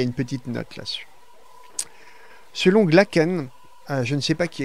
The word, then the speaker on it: Glacken: il y a une petite note là selon glacken je ne sais pas qui a eu je